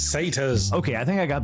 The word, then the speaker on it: satyrs: It's pronounced Einherjar. Say tires? It's satyrs.